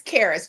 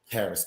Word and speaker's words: Karis: It's Karis, just like Paris, but with a K. Karis.